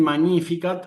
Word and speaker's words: Magnificat: Claro, porque la G con la N se pronuncia como una. Sí. Entonces, no es no es magníficat, sino magníficat. Sí.